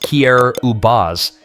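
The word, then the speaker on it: Kiribati: Kiraabati, pronounced Kier Ubaz, is a remote island nation in the Pacific with many of its islands sitting barely 2 meters above sea level. What makes Kiraabati especially tragic is its cultural richness.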